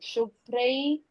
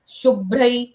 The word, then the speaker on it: शुभ्र: रदभ रदभ रदभ रदभ आधे ब का उच्चारण होता है जब भी हम भोते हैं किसी अक्षर अक्षर के बाद ओके जैसे नभ तो नभ बोलने में देखो बीच में ब की साउंड आती है क्यों होता है ऐसे क्योंकि ब अल्पप्राण अक्षर है उसको कम समय लगता है बोलने में लेकिन भ बोलने के लिए ब का उच्चारण आता ही है और भ को म